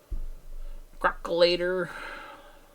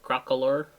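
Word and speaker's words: Crocalor: Crocolator. That's not how you say it. Crocolor.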